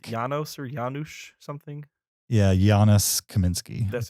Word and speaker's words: Janusz Kaminski: Yeah, Janusz Kaminski.